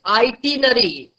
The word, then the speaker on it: itinerary: I-T-I, just note down the spellings, and the pronunciation is itinerary. I-T-I-N-E-R-A-R-Y, itinerary. On mute, you can revise with me.